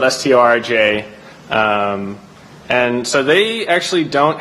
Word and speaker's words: Storj: So there's kind of like a friendly but heated competition between us and Storj, which is spelled Storj.